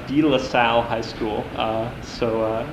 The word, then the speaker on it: DeLaSalle: go to high school well in Minneapolis it's pronounced DeLaSalle high school so it's in so if your